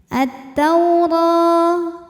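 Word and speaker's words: التَّوْرَاةَ: kita baca anzalnatau tau ada harfulin karena ada wau sukun didahului harakat fathah maka dibacanya lembut attaur huruf ro dibunyikan secara tafkhim karena berharakat di atas maka ro tebal Kemudian pada ro juga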